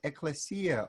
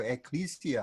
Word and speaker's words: ecclesia: The word church is the word ecclesia or ecclesia, however you may want to pronounce the Greek, but it means a gathering, an assembly.